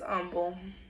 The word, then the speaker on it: Humble: Aldine, Humble, yes, it's humble. It's not humble, even though it's spelled like humble.